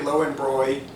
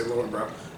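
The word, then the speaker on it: Löwenbräu: I used to get Lowenbräu. That's really how you pronounce it, but we say Lowenbrau.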